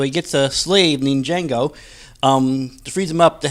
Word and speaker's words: Django: Hey, the film we're going to talk about today is called Django Unchained. The D is silent.